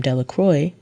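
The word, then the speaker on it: Delacroix: and Harry Jones and Dicky delacro the villagers pronounced his name delacroy eventually made a great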